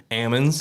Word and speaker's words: almond: about um y'all were growing as you call it out there Ammons Ammons that's right so I'd never heard that before but um that's almond for most of you normal folks but out in California I guess I say Ammond and so um I